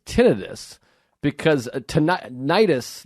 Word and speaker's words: tinnitus: bit about that with tinnitus when your ears are tinnitus which people think it's tinnitus but there's actually an explanation that it is tinnitus because uh nidus like